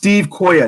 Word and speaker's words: Stevquoah: It's pronounced Stevquoah. Nobody ever gets it right the first time, man.